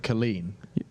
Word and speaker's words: Kolin: The next one that's being announced is, now I've been told to pronounce it Kolin. Kolin. It's written Kolin. With a K.